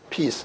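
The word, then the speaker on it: piece: 2번에 대해서 2번의 맞줄에 대해서 P 그러고 요건 E자가 붙어 있는 것은 E자 앞에 C자는 EI와의 규칙에 의해서 C자가 스 발음 나니까 크 발음이 아니라 스 발음 나니까 피스 이렇게 돼요.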